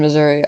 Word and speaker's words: Missouri: um never been in Missouri I don't really think it's that cool Missour I don't know because some people say Missour and I don't know there's two different pron pronunciation but I know this